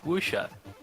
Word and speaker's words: Wuxia: But I was promised Wuxia. How do you pronounce it? Wuxia.